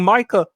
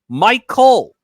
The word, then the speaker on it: Micah: trade request and remember Jerry keeps calling Micah Michael Michael Parsons, you know his name, Jerry, I know you're getting up there in age, but you keep mispronouncing his name intentionally.